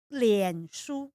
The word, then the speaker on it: 脸书: 脸书. Lianzu?